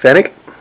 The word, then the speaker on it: Pfennig: We have a Germany Federal Republic, I believe you call it 10 Pfennig, because I think the P is silent.